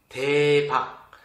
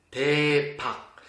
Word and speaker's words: 대박: Ça se prononce 대박. 대박.